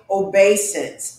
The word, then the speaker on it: obeisance: crouch fall down flat humbly beseech do make obeisance let me spell that word o b e i s a